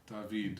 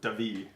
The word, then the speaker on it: David: Where David, I guess, says, for what it's worth, I'm so awkward about this, but my name is pronounced like the Spanish David. David. So David.